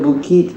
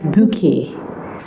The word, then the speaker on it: Bouquet: It should be Giri and Joseph Bouquet. We're in Paris, remember? And these are French names. French pronunciation isn't the same as English.